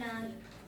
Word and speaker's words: hour: The flight will be delayed by an hour. एनाया, Anna, N आर में एच ओ यू आर है पर एन लगा रहे हैं ना क्योंकि एच साइलेंट है।